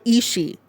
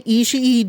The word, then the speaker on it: Ishii: Do not say Ishii during Forbidden Door. It is just Ishii. None of the ring announcers and commentators such as Chris Charlton and Kevin Kelly say Ishii. It's Ishii.